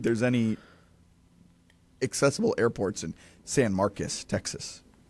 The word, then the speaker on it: San Marcos: It's pronounced San Marcus. Really? I'm 99% sure. That's crazy. Yeah, it looks like San Marcos, but I believe it's pronounced San Marcus.